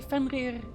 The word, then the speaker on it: Fenrir: bothers me because i i can't really say fenrir with like a double rolling r i i don't know